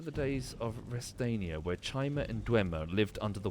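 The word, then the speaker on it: Chimer: It is Chima, apparently.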